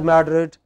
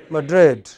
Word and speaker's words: Madrid: capital of Spain okay so in English it is pronounced not as Madrid what else Madrid not at Berlin but Berlin not at Brazil but Brazil very erratic you know